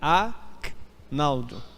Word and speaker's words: Agnaldo: você não consiga percepção o meu G é mudo é a Naldo não Agnaldo e o nome do